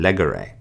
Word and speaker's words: legere: However, in third conjugation, we have no accent mark there, so instead the words are pronounced agere, curere, and legere.